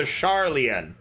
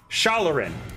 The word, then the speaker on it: Shalarin: humanoids known as the Sharlian. My pronunciation is bad. The Shalarin, okay?